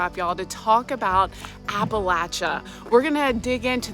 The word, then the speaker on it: Appalachia: It's Appalachia, like throw an apple at you or the Appalachin pronunciation appalachin at throw an apple at your chin.